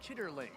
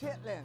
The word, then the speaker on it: chitterlings: I noticed now if you looked at it written on paper it might look like chitterlings but I believe that's not how it's pronounced chitlings.